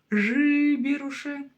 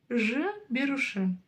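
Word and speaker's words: жіберуші: Пробуем сначала через букву произносить жиберуше. Не то, да? Пробуем через букву И. Жиберуше. Тоже не то. И вот теперь ищем среднее значение. Жберуше. Жберуше. И при этом, да, она произносится коротко.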